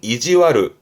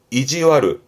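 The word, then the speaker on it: 意地悪: 그러면 그 마음씨가 나쁜 거니까 심술 발음은 이지와르 이지와르.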